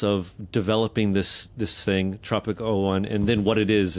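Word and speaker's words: Tropic01: Tropico 1. Is that it? Is that right? Yeah. Tropic 01. Yes.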